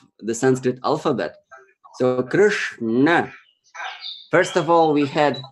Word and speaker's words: Krishna: So this is the T. Okay, the front part of your mouth. You say Krishna. This is how it goes. Krishna.